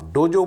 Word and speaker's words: डोजो: डोजो यात्रा जिजु से वह आप डोजो बोलिए डोजो बोलिए व डज यात्रा हालांकि